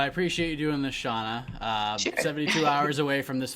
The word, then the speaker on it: Shana: up guys is it's it's actually Shana but it's okay everybody mispronounce is my name but it's all good